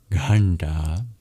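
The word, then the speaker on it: ghaṇṭā: In this case, these dots indicate that these are retroflex, meaning you curl your tongue back to pronounce them, just like the R. And it's your bottom of the tongue that taps against the hard palate to make the sounds nta, nta in Ghanta.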